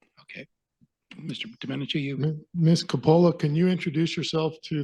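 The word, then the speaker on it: Coppola: ready to go hello uh I'm Metra from pronouncing your name correctly it's uh Marissa CA that's a okay it's Marissa Capa Marissa okay that that's right I see that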